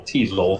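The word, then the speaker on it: Teisel: Teasel. Everyone quit digging. Our priority now is to get Rhymes with Diesel.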